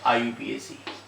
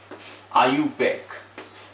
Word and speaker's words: IUPAC: तो इट is always pronounced as, ये ध्यान रखना, ये हमेशा आयुपैक के फॉर्म में जो है प्रोनाउंस होती है, आयुपीएसी नहीं बोलते।